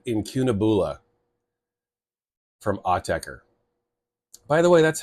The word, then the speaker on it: Autechre: right now it is called inun AA from AER by the way that's how you say their name it's not a it's not AER it's not AAE it's AER and why do I say this because the